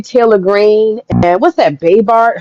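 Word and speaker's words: Boebert: And then the other thing is, I think that Marjorie Taylor Greene and what's that, Baybart? How do you say her name? Yeah. Bobart.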